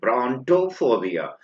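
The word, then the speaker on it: brontophobia: ब्रोंटोफोबिया, बी are when bronze, then pronounce करेंगे आप टो, ब्रोंटोफोबिया।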